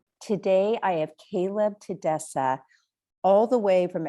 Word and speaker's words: Kaleb: Most people can't pronounce it, so I'll just say Kaleb, but it's Kaleb.